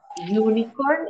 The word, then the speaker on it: unicorn: Unicorn es como que si estuviéramos pronunciando la palabra you.